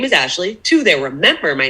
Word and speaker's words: Ashly: told my interviewers is my name is ashley ashley without the e my parents didn't know